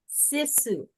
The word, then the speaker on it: sisu: to that later um sisu I said it right the D Su du like you see Sue running down the street oh c okay I